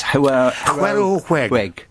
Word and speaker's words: Hwerow Hweg: I was going to ask you how you actually pronounce it. It's HWEROW HWEG.